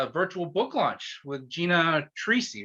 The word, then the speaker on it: Troisi: All right, welcome everybody to a Free Thinkers Corner, Books and More live event, virtual book launch with Gina Troisi, right? Is that how it's pronounced?